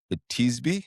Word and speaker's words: Tisbe: you buy, they're the Tisbe. I think I'm saying that correctly. Yeah, that's good pronunciation. That's exactly that was Tisbe good.